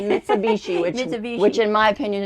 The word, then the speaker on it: Mitsubishi: for it's a m MIT I can't ever pronounce it mitsubichi Mitsubishi whichi which in my opinion is the only